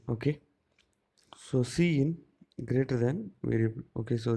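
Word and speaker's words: cin: is a predefined identifier c in pronounced as c in uh this that indicates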